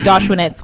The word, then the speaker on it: Joshuanette: on youtube it is joshuanet's world and on snapchat on twitter it is joshuanet so my name is spelt j-o-s-h-u-a-n-e-t-t-e my parents wanted a boy but i'm a girl so i'm joshua net and i will be